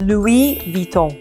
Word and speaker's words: Louis Vuitton: So again, because the S is at the end of the word here, so there's no pronunciation of the S, it's Louis, not Louis, and Vuitton. So for the Vuitton, when you see a U and an I, it's pronounced I, Vuitton. And whenever you see an N in French, it becomes really nasally like back of the throat.